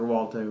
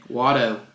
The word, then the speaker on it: Watto: So it's a win-win for Walto, really. Watto. His name's Watto.